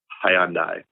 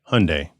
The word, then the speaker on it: Hyundai: How do you say it? Hyundai. Hyundai. I say everybody here says Hyundai. Hyundai, like aluminium versus aluminum.